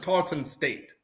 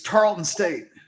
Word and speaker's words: Tarleton State: them so tall to the Talton state it's Tarleton State so they played Talton